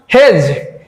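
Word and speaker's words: hedge: হেজ হেজ মানে কি হেজ মানে হচ্ছে ছোট ছোট গাছের সারি হেজ এইচ ই ডিজিই হেজ এখানে ডি উচ্চারণ হচ্ছে না।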